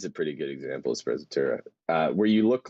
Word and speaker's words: sprezzatura: Something about, how do you spell that? sprezzatura.